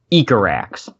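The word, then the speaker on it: Icarax: pronounce this correctly now according to the wiki it's pronounced eco racks Oh No so hooter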